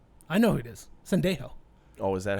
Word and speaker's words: Sendejo: Sendejo. Oh, is that how you pronounce it?